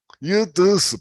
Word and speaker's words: yutusu: Yutusu, yutusu, perdón, hasta yo lo pronuncié mal. Yutusu, ¿ok? Yutusu, dos largas.